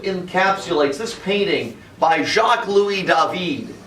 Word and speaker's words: David: This kind of encapsulates this painting by Jacques-Louis David. Last name, all you need to know is the name's spelled like David in America. Triggered. David, but it's David.